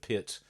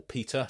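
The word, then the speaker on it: Piotr: with the death of PIAT or Peter depending on how you pronounce it grazinsky who who died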